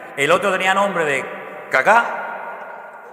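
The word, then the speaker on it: Kaká: Había un jugador que se llamaba, menos mal que tenía el acento en al final cacá. Caká, no caca, sino cacá.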